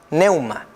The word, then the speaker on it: pneuma: Porque en griego, la palabra viento viene de una palabra en griego que se llama neuma. Se escribe pneuma.